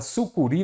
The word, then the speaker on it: sucuri: primeiro ponto vamos pegar a palavra aqui su Curi vamos compreender primeiramente Qual é a sílaba tônica dela a última se a última ela é uma oxítona eu acentuo as oxítonas